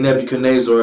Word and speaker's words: Nebuchadnezzar: So at this moment of time, I'm gonna pronounce his name Nebuchadnezzar because that's one of the pronunciations that you can pronounce it.